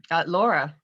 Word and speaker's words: Llaura: me today I have Llaura. Llaura. I was two double L's in the beginning. Yeah, you can pronounce it as Llaura or Llaura? Llaura. Llaura. Yeah, Oh, with kind of a Y sounding.